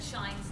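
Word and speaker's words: Schijns: Said shines no matter what it looks like when you see it on the agenda. That's how it's said. It's spelled S-C-H-I-J-N-S, so it sounds like it means Asians, but it shines.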